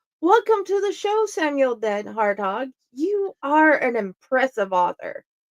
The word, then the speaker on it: DenHartog: types of books welcome to the show Samuel dead harthog you are an impressive author thanks Jenny U